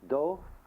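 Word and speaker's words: 道: Because there is in Chinese philosophy no difference between the Tao, that is the word T-A-O, in Japanese do.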